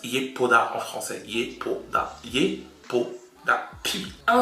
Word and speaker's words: Yepoda: Ça se prononce Yepuda en français.